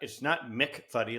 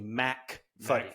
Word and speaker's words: Mackfuddy: Mackfuddy. Yeah, I need to quit referring. It's not Mickfuddy like MC. It's actually Mackfuddy.